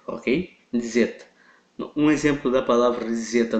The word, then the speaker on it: Zeta: a nossa próxima letra Zeta Ok Zeta exatamente nessa pronúncia como se tivesse um D antes do Z Ok Z esse tipo